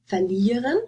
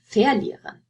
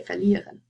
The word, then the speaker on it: verlieren: So first, think about whether this is this has stress on the prefix or the stem. Do you say verlieren or verlieren? You say verlieren, right?